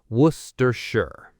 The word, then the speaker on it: Worcestershire: Okay, word 8, Worcestershire. This is Worcester's evil cousin. It's so long. Worcestershire. W-O-R-C-E-S-T-E-R-S-H-I-R-E. But we just say Worcestershire. Worcestershire. Start with Worcester, Worcester, and then add shire, Worcestershire.